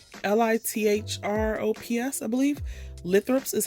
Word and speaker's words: Lithops: I think they pronounce it lithops, Lithrops, I believe.